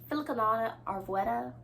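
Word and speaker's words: Filcolana Arvetta: I don't know if you guys can tell, but I knit this in Arvetta, Filicanana Arvetta.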